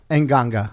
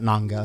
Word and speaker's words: Nganga: Nganga, thank you. I thought Nanga is how The you pronounce it.